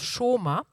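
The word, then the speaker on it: שמע: mot obéissance en hébreu je crois que ça se prononce choma et ça s'écrit Shama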